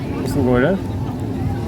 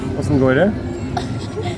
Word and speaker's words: Hvordan går det: How to say how are you in Norwegian? Hvordan går det? Sorry? Hvordan går det?